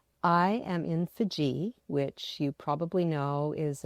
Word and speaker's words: Fiji: So I've I've always heard it pronounced Fiji, but I guess Fiji is how the locals say it.